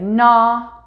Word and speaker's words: gnaw: We can see this spelt as an N, an NN, a KN, or a GN in words like gnaw, no, honey, and nanny.